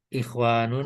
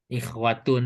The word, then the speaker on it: ikhwatun: Ikhwanun Mungkin bukan kalau sih. dibacanya sempurna ikhwanun. Ikhwatun sih yang betulnya mah. Oh ikhwatun ya.